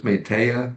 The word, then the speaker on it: Metteyya: There's a sutta in the Dīgha Nikāya which mentions Metteyya, the Pāli pronunciation is Metteyya, which is the equivalent of Sanskrit Maitreya, which mentions Metteyya as the next Buddha, the Buddha to come in the future.